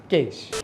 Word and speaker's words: cache: That's how you say it, cache.